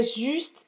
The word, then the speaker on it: juste: C'est juste ici. Presta atenção aqui no U, tá? Biquinho de novo. Juste ici. C'est juste ici. Talvez se você falar c'est juste ici, a pessoa entenda.